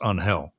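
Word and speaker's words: Ángel: say hey congratulations on his actual name is unhel that's the he's Cuban right and it's actually pronounced unhel uh and that's that's the joke is that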